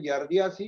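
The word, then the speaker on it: giardiasis: La Yar, pronuncia, a ver, yardiasis.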